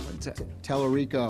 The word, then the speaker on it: Tallarico: Telerico.